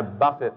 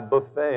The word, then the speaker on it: buffet: Well, I heard some American preacher say once that American Christians have pronounced that word wrong. They don't say, I buffet my body, they say, I buffet my body.